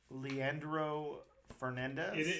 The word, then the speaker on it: Leandro Fernandez: Leandro Fernandez.